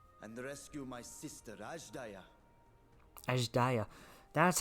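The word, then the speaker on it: Azdaja: Ajdaya. That's how you pronounce it, okay.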